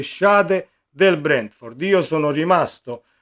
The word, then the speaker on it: Schade: a sinistra, così come Schade o Scade, credo che si pronunci Schade perché è tedesco il calciatore, 1,85 esterno sinistro, ed